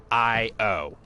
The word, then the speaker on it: Io: can't get it to IO right now and yes for those who don't know that's how legitimately you pronounce that moon I oh there's there's you know